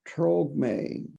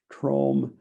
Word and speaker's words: Tromge: And I think I pronounced the first name incorrectly. It's Tromge, Tromge.